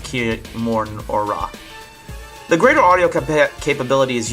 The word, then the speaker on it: Kimura: I think his last name is pronounced Kimura.